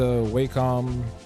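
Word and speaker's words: Wacom: I've been using my waycom yeah I have a this is a I don't never knew how to pronounce this thing wcom or wack but it's a wcom 16 Pro HD I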